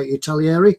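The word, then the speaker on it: Italeri: It's Italieri. I used to say it's one of those names that people always pronounce as Italieri.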